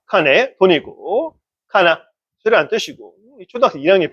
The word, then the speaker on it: 金: 자, 킹이라고 한자 명사에서 굉 아니면 콩이라고 읽어도 있다는 걸 주의하고 그다음에 이것도 뜻이 몇 개 있습니다. 회금을 카네 오카네 할 때 돈이잖아요. 카네란 말. 음. 그다음에 카나 카나 쇠라는 뜻인데 그거는 카나짓지라든가 쇠망치를 가나짓지라고 하거든요.